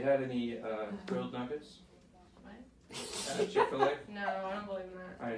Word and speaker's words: Chick-fil-A: Chick-fil-A. Okay. Oh. So. He did it for your way. She hates the way I pronounce it, because I put emphasis on the first part. I say Chick-fil-A, and she says Chick-fil-A.